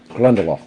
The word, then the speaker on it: Glendalough: Uh this has many different pronunciations, but I've heard the uh master distiller say Glendela.